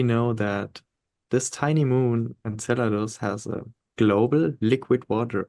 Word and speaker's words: Enceladus: is able to support life I'm talking about Enceladus if I'm pronouncing it correctly yes you do so Saturn's